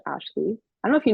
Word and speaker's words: Ashlye: That's my Instagram, and then my Spotify or like my music platforms is just Ashley. So Ashlye. It's actually Yeah. better that it's spelled differently because when I search on Spotify, it's the only one there.